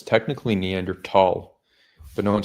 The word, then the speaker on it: Neanderthal: It's not even technically pronounced Neanderthal. It's technically Neanderl, but no one says that.